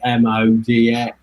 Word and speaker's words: MODX: there's that there's that mod x or mo dx as they like to pronounce it but i don't think i'd ever pronounce it like that um but i think